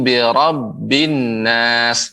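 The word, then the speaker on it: بِرَبِّ النَّاسِ: Dit pada huruf Robby tadi nenek bacanya belum ditasydidkan kurang ditasydidkan biar lebih full a'udzu birabbinnas dibilangin Who zubirobinas malikin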